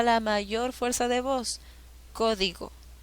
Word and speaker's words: código: mayor fuerza de voz código código co lleva la mayor fuerza de voz en la ante penúltima sílaba es esdrújula y según la regla todas